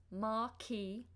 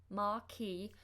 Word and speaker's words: marquee: marquee now a marquee see how that's pronounced Marquis Marquis amaki is one of